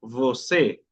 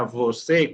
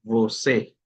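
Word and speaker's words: você: ¿Por qué se pronuncia voé? se pronuncia vocé con la e, por lo que el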